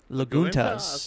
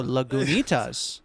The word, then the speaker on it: Lagunitas: I have no idea how to pronounce this. Is that Laguna? Laguna? It's got a T in it though. Laguntas. Laguntas. Oh, no, Lagunitas.